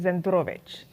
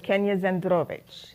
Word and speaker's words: Zandrowicz: I got married but my last name is zovich so it's Kenya zovich imagine seeing my name